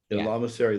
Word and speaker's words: lamasery: Is that how you say it in Tibet? Yeah, Lamasery, that's correct.